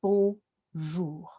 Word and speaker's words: bonjour: And if we see an R in English, we go r from here, from the front of our mouth, r. But in French, it's from here, it's ch. And so that is bonjour.